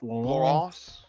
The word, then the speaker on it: Lance: So Lance getting her second win was beautiful, and yes, I pronounced it like I had a mouthful of baguettes because that is how you say it. It's Lance.